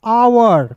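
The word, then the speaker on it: hour: देखिएगा एच ओ यू आर आवर क्या पढ़ेंगे दोस्तों आवर, आवर नहीं पढ़ते, इसे पढ़ते हैं आवर।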